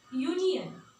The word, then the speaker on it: union: For example, union.